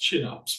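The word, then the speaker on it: Kinnarps: having any packaging there's a company called It's pronounced chinups but it's proun it's spelled Kars k i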